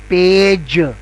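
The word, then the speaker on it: page: पेज अगर इसको देखें तो इस लिखने में यह पी ए जी ई है लेकिन जो प्रोनाउंस हो रहा है वो जे हो रहा है तो पे पी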